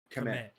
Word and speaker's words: Kmet: Kmet.